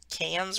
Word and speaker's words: Cairns: but they pronounce it cans or can't yeah they don't pronounce the r so it's like hands why i don't know